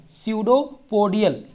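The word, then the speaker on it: pseudopodia: स्यूडोपोडियल। ठीक है, पेस्डोपोडियल भी कहते थे, इसे स्यूडो कहा जाता है। क्या कहा जाता है? स्यूडोपोडियल। ये साइलेंट होता है यहाँ पर।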